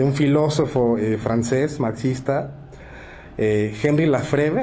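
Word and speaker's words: Henri Lefebvre: eh Henry la freve Así es como lo pronuncio yo pero tú nos darás GS pero Cómo se pronuncia hombre y si hay alguien que hable francés se va a burlar de mi asento pero se pronuncia hry lef muy bien Bueno él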